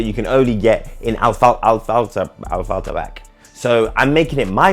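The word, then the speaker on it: Affalterbach: It involves driving the car back to its birthplace in anyway, here's the right pronunciation. Afflerbach.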